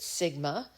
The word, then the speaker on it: sigma: top that um is a greek letter we pronounce it sigma all right so sigma that that's the population